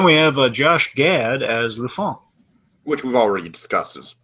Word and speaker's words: LeFou: Anyways, then we have Josh Gad as Lufon. Which we've already discussed is like or LeFou. How do you pronounce it? LeFou. Yeah.